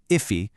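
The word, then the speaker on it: efe: Even F, which is pronounced Iffe, shares that exact same phonetic thread right at the beginning.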